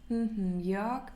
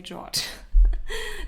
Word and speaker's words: Jörg: If it's too difficult to pronounce, you can say George.